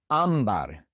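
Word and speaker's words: ámbar: Ambar. This word ends in an R. And so normally the stress would be on the last syllable, but it's not. It's on the second to last syllable.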